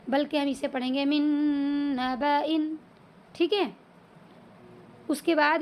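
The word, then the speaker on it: من نبإ: اس میں یہ والا لفظ استعمال ہوا ہے، من نبأ۔ ٹھیک ہے، اس طرح کریں گے اس کی ہجے: میم نون نون زیر من، نون زبانا،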